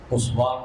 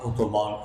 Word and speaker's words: عثمان: اوتومان نے لکھا تھا، عثمان اوتومان، انگریزی میں جا کے عثمان اوتومان ہو جاتا ہے، یہ بھی تلفظ کا فرق ہے، یہ مسلمانوں کے تیسرے